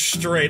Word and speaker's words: Strait: name i cannot pronounce well it's tough it's uh it's one syllable yeah it is it is one syllable but yeah um so